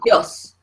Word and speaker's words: tíos: So this should say mis tíos, mis tíos. But I want to hear the I, and I give it its own voice. So actually this becomes a 2-syllable word, okay?